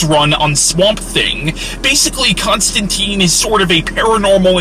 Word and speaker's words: Constantine: Now, these comics feature the character of John Constantine, or technically Constantine, I think is how it's properly pronounced, but I'm too used to the American pronunciation of the name.